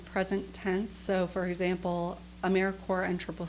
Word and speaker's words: AmeriCorps: end of it but the pns are not pronounced so when you're saying it's AmeriCorps not a mere corpse and also when you're writing you're going to